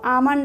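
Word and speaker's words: almond: बोलना शुरू कर दे इसको आमंड क्या बोलेंगे इसको आमंड आमंड मीस क्या होता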